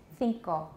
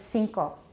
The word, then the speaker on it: cinco: dos tres cuatro cinco cinco in spain think like an english the but it's cinco in latin america one of those three